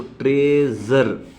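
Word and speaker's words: treasure: यू आ रही है, लेकिन इसको जब प्रोनाउंस करेंगे साउंड का तो ट्रेजर, जी, ज आ गया ना, ट्रेजर, विजन, जबकि स्पेलिंग क्या है एस, ज, ज, ट्रेजर।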